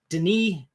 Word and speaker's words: Denis: Now, Eric, this movie was directed by Denis Villeneuve. If you try to pronounce his name, it looks like Dennis. It's not. He pronounces it Denis Villeneuve.